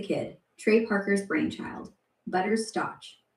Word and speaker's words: Stotch: Butters Stotch. Pronounced Stotch, not Stotch.